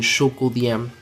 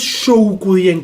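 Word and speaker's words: Zhoukoudian: Eso es Shoukudien, creo que la ZH es Show.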